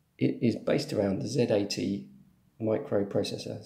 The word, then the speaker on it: Z80: occurred to me that I should actually pronounce it z80 not zjt but that's probably the correct pronunciation but I'm gonna say Zed 80 so this thing then